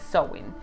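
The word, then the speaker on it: Samhain: we have different sewing i know that the pronunciation is not as you can see it the spelling is champagne but the pronunciation is sewing so actually they are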